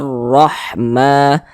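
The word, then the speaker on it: رحمة: Wa khasyiyar rahmah. Kemudian huruf ra memiliki tanda baca fathah, berarti huruf ra-nya dibaca tebal. Rahma, ma dibaca panjang.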